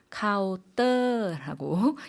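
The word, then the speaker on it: เคาน์เตอร์: 한국어로는 카운터 이렇게 표현하는데 태국분들은 카오더라고 읽는다는 것 짚어 보겠습니다.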